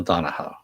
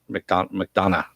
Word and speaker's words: McDonough: Yeah, Neil Donahoe. McDonough. There we go.